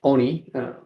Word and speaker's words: Oni: And when we see this Oni Force, because yeah, it's pronounced Oni. Mhm. Because it's a word in Japanese for force.